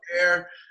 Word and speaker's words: Gobert: Is that how you pronounce that? Yep. Gobert.